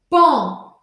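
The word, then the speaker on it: paon: Pom se escreve P-A-O-N, mas eu falo como se fosse um E-N ou como se fosse um A-N.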